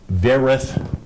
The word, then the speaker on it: Wereth: Field Artillery Unit in Wereth, Belgium. Mm-hmm. Is that pronounced correctly? Or what? Wherewith, as in wherewithal, right?